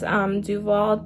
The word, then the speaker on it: Duvollé: send this wand to me, and it's called Duvolle. I think that's how you say it. It's Duvolle, D-U-V-O-L-L-E.